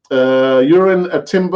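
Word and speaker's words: Jurriën Timber: Urin Timber.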